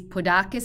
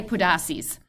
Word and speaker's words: Podarces: Podarces, I think, is the way that it's pronounced in Greek, according to a colleague of mine who happens to be a fluent speaker of Greek. But Podarces would be the accepted English pronunciation.